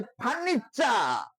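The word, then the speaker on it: furniture: Century শব্দের অর্থ শতক, এখানে টিটা এর উচ্চারণটা হয়েছে চয়ের মতো। যেমন আমরা বলি হচ্ছে ফার্নিচার, FUNITURE, ফার্নিচার, আইবার পত্র যেটা আমরা বলি, ঠিক আছে।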